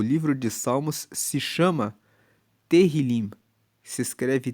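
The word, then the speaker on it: Tehilim: Tanto que no original bíblico o livro de Salmos se chama Terrilim. Se escreve T E H I L I M. E terilim significa justamente louvores.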